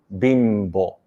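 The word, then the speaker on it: 貧乏: It's called Bimbo. Bimbo sounds like Bimbo.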